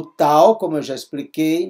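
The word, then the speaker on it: ταῦ: saúde por exemplo o tal como eu já expliquei não podemos confundir com o Tet teta é th tal é o t purinho de tatu de ter aqui o Y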